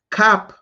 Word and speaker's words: Kap: Drop the A at the end. Kap.